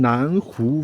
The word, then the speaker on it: 赧: Next up, lunch in Nanu village. Yeah, this word is pronounced nan.